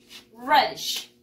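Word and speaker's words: radish: Y se pronuncia the same, igual, miren. Reddish. Reddish. Ya vamos a cambiarle aquí la A por la E, ¿ya? En la pronunciación.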